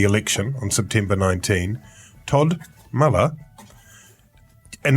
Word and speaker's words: Muller: on September 19 Todd Muller and only seconds after we've learned to pronounce his name correctly Todd meller has resigned as leader of